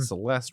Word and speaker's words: Celeste: Celeste in peace and Celeste rhymes with rest so it's like rest in peace cuz she died oh